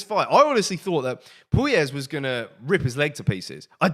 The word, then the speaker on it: Puelles: Dan Hooker picking up the second round TKO victory against Claudio Puelles, and that's how you say it, Puelles.